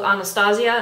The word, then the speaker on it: Anastasia: is also a slightly higher end brand called anastasia and that's how you pronounce it she's on my facebook and that's